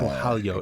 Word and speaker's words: Borralho: how to say it it's still tough to pronounce yeah right how do you say it boo Balo yeah Balo it's like that L Claudia gelia the L